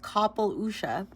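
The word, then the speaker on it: Capall Uisce: A dazzling Capale Usi, a Celtic mythological water horse pronounced Capel Usha, emerges from the bow of a wave.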